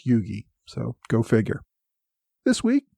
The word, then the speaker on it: Huger: pointed out that his last name is actually pronounced Yugi even though it's spelled h u g r it's pronounced Yugi so go figure this week I talked about